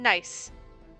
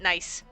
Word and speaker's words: Nice: de Rousseau family from Nice. Nice. It's not pronounced nice. I know it's not pronounced nice, but my brain went nice. Nice? Nice! It's pronounced Nice.